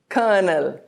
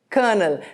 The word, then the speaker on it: colonel: Notice that the first L is silent.